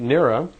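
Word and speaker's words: Nera: a moment, and I'd like you to meet Nira. And Nira, and it's spelled N-E-R-A, she's a dark brunette-looking woman, very nice-looking woman, and I'd like you to meet Nira.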